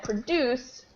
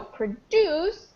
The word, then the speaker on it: produce: And then, of course, you already said produce is when you create something. And the stress changes, like we saw in the very first example, the stress changes. So produce, the verb, has it on the second syllable,